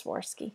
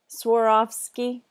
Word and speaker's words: Swarovski: I know this you that's sworsky soar Swarovski I always say it wrong okay I'm